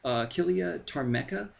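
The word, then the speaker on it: Achillea ptarmica: But it's basically pronounced Achillea tarmeca.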